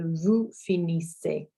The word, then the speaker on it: finissez: So vous finissez. Vous finissez, our EZ, our Z on the end there is silent as well.